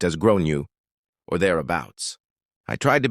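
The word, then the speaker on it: Gráinne: At this point, the alarm bells are ringing in my head because I've realized that the kid is called Grain, generally pronounced as Gronu or thereabouts.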